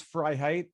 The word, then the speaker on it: Freiheit: fry heart cry height height phonetically it's fry height and it's verbatim freedom in german right okay fry height and